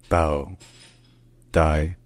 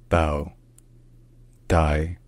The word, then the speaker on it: Bảo Đại: French domination in the Vietnamese this name is pronounced bow die bow and die bow die bow and die all right if you enjoy